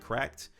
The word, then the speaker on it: CRKD: We're in 2026, and you currently now have mobile pad, Nexi, and I think you pronounce it cracked, CRKD.